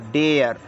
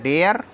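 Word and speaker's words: dare: आरई को पढ़ेंगे हम डेयर डी ए आरई बराबर डेयर डब्लू ए आर ई डब्लू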